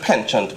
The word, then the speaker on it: penchant: don't want to say, the word is spelled penchant, but then if I say penchant, most people would know what I'm speaking about.